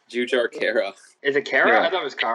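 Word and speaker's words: Jujhar Khaira: It's Jujar Kara.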